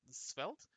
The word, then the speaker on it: Svelte: That's how you say it, Svelte.